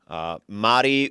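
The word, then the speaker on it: Mari: Spelled M-A-R-I, but pronounced as if there's D's for some reason.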